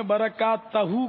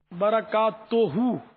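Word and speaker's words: بركاته: رہنمائی فرمائیں۔ تو برکات توہو کے بجائے آپ نے برکات تہو کہا، تو یہ اس کی بھی تصحیح فرما لیں۔ برکات توہو صحیح تلفظ ہے۔ تو کھٹی چیزیں جو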